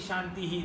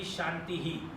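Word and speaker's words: शान्तिः: So you cannot say Shanti, Shanti, Shantihi. That means only the last Shanti you are using that HI. The first Shanti also has to be Shantihi.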